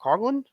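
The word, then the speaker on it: Coughlin: and and he I cogin cogin is that how you pronounce it cogin yeah Kevin Cy corrected us on an airing last like a few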